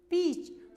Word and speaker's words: peach: Notice the spelling of the words peach, peach from the story. Although peach is spelled with EA, जबकि ये EA से बोला जा रहा है, but इट is pronounced double E, और पर इसका प्रोनाउंस कैसा, डबल ई.